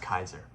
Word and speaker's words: Caesar: To become the Augustus, to become the Caesar, or really it's pronounced Kaiser, whole other story.